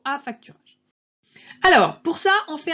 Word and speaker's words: affacturage: Alors pas en deux mots, la façon dont je l'ai prononcé, c'est l'affacturage, ou plutôt affacturage.